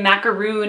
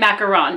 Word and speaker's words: macaron: and it does say macaroon on it. I'm not mispronouncing the word, but I think they meant macaron because those are the ones that are like those pastel colored cookies.